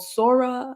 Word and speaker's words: Sora: So my question to y'all is OpenAI recently released, I think it's called Sora. I don't know how you would pronounce it, Sora or something like that. Sora, yeah.